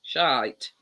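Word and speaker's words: Shyte: there's a chocolate called shite yes but not spelt like that um s h y t e but still pronounce the same shite so uh i'll look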